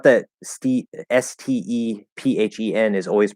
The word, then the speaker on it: Stephen: way but to me if you're gonna have the name steven it should be spelled with a v because that's a v sound stephen stephen if you're going to